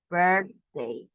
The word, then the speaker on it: birthday: Remember, it's birthday. We don't pronounce like a E, right?